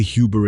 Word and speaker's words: Huber: That oo has no English equivalent. Say Huber in German and an English-speaking clerk hears something he cannot spell, so he writes what his ear gives him, Hoover, sometimes Huber, sometimes Huber still.